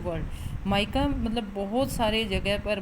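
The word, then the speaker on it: mica: माइका कहाँ पर है, इसकी एग्जैक्ट प्रोनाउंसिएशन होती है वो होती है माइका, ना कि मीका.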